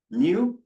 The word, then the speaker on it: mu: Mu is how you pronounce this, right?